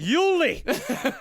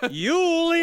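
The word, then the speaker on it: Jule: IT'S PRONOUNCED ULI. ULIE EISENBOOD.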